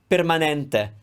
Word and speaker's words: permanente: go inside permanente permanente now if you want to be super careful with this pe that's a closed e the eye is always the same sound na that's the open e it's the closed eye i'm going to give